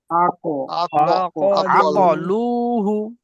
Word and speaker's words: عقلوه: من بعد ما عقلوه এখানেও কফটা উচ্চারণ করার সময় ঠোঁট দুটো গোল হবে। আক আক আকলুহু عقلوه মিন বাদি মা আকলুহু ওয়া হুম ইয়ালামুন।